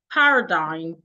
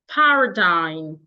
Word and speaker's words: paradigm: Please pronounce this word paradigm. Paradigm. Paradigm. Shift. Shift. Excuse me. Paradigm shift. Paradigm. The word is pronounced paradigm. Let me spell it. Paradine. Paradigm. That's the word.